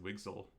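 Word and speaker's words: WGSL: language um wgl uh w g s l I think pronounced wigsal uh is kind of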